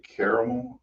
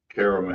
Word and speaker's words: caramel: Do you say caramel or caramel? Caramel. All right. People Car- say it's pronounced caramel, and I say you're an idiot.